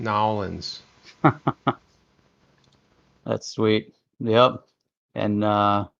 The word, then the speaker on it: New Orleans: Did you say New Orleans? Nolans is how they say it. Nolans.